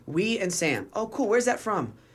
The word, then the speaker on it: Wesam: and he's like what we Sam how do you say it we and Sam oh let's go where's